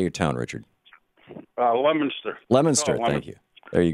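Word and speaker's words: Leominster: key message of this campaign Richard in Le Leo Minister Massachusetts I know that's not not how it's pronounced how do you how do you say your town Richard uh lemonster lemonster thank you there you go you're on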